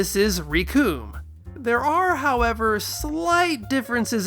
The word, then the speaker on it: Recoome: They also tend to pronounce it with a shorter vowel sound, more like Rakum than Recoome.